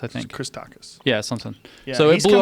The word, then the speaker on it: Christakis: Christakis, I think. Christakis.